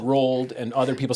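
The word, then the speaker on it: Roald: Uh, so roll. R O A L D. Yeah, it's a Norwegian name. The D is silent.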